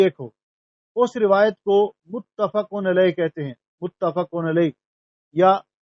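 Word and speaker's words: متفق علیہ: کوشش کرتے ہیں، تو لیکن اس کا جو صحیح تلفظ ہے وہ متفقن علیہ، متفقن علیہ۔ متفق اس میں مفعول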